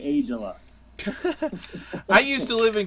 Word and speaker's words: Aijala: Well, technically, the pronunciation in Finland, it's a Finnish name, is Aijala, and there's dots over all the A's. But in America, we say Aijala.